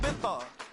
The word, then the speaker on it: Ibiza: Yeah, it's pronounced Ibiza, actually. What's the difference, man?